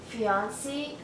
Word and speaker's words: fiancée: definitely especially for someone fiancée a woman engaged in Paris be right there so especially pronounced fiancé and when she said